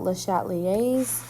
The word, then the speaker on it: Le Chatelier: get uncomfortable all right we are talking about le chatelier's principle okay yes that is how you say